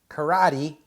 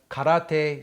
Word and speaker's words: karate: The thing that took me over to Japan years ago was the study of that's not karate. That is karate. Karate. Karate. When I was in Japan, as a karate student, sometimes on the